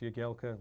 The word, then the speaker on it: Jagielka: Obviously, it's pronounced Jagielka when I have to do something into camera, and they ask me my name. I'm not going to say it wrong, but as football, it's my stage name, if you like. Commentators, Jagielka is absolutely fine.